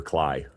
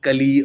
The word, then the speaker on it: CLI: You pronounce the capital words. It's not cali or mcp.